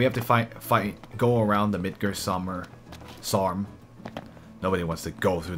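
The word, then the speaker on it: Midgardsormr: The Midgar Sarm, because you don't pronounce the R at the end of the word, its name.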